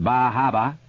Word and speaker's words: Bar Harbor: magic names Camden Rockland Bar Harbor pronounced bahaba whis casset bath Portland